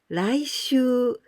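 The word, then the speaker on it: 来週: And here we pronounce rai. Raishu, next week.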